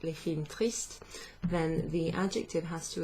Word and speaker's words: tristes: So there's an S at the end of that, but it just sounds the same as if I was saying un film triste, deux films tristes, okay?